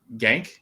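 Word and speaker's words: Genk: from barcelona mark mckenzie from gank is how you say that yep um tim ream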